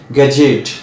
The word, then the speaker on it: gadget: তো অ্যাজাসেন্টের মতো একটা শব্দ আমরা প্রায় বলি গ্যাজেট, GADGET, গ্যাজেট, গ্যাজেট নয়, ডি সাইলেন্ট, গ্যাজেট।